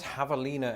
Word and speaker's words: javelina: number one thing yes javelina and it's very important that you do pronounce it the spanish way lest you confuse it